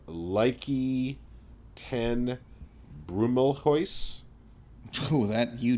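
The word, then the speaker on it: Lieke: Leike, because I-E is that's an I sound. Listen, in German.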